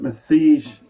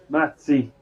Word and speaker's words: Matzi: That Massage is pronounced Matze. I will try. He's Massage for me today, yesterday and Sunday. A fan favourite. Matzi.